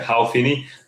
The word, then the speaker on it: Hal Finney: I I I thought you said Paul. No, no, Hal Finney, yeah, yeah. I said Paul. Yeah, you're right, Hal is the pronunciation. Hal Finney.